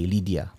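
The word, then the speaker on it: Lidya: Nama dia, ejaannya L-I-D-Y-A, Lydia.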